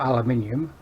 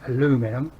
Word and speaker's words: aluminium: one inch by four aluminium or as your americans say aluminum uh and it's all